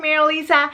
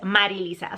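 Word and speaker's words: Marilisa: look back when they my name maril Lisa even though is Mar Lisa so I only expect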